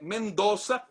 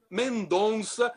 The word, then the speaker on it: Mendoza: E o Rizek pronunciou de forma corretíssima o nome da província, que é Mendoza, e não Mendonça, como muitos turistas que aparecem por aqui dizem.